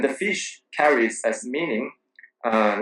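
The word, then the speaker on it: 鱼: fish carries as meaning uh like uh every year every old year every new year tops the old ones because of the pronunciation fish is pron is pronounced as u in China and U is also the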